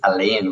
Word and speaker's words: Alayne: No, we actually, and funny you say that because Ali, which is her nickname actually, because her name is Elaine, which is spelled Alayne.